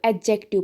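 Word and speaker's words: adjective: उसके बाद है डी। डी भी हमारा साइलेंट रहता है, जैसे कुछ वर्ड्स में, जैसे कि जहाँ पे डी जी होगा। ठीक है, जैसे कि यहाँ पे एडजेक्टिव आदि लोग पढ़ते हैं, लेकिन इसको एडजेक्टिव पढ़ना होता है। उसी तरीके से एडजॉइन, उसी तरीके से एडजस्ट, एडजेसेंट, एडजॉन। ठीक है, ऐसे आपको पढ़ना है।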